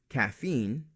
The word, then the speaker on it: caffeine: Another group of exceptions are scientific words with EIN in them, like protein, caffeine, or codeine. It's spelled EI but sounds like a long E.